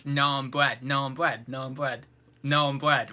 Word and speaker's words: naan: How do you pronounce naan bread? Naan bread, right? Naan bread, right? Not nan bread, because some people say like nan bread or something, don't we?